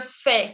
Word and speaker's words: fais: La S no se pronuncia, la AI se pronuncia como E. Je fais, con la mandíbula que cae, E accent grave.